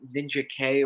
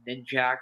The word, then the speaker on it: Ninjak: I read yeah, all the old stuff, and I gotta say, Ninja K or Ninjak, however I you think want. they pronounce it Ninjak.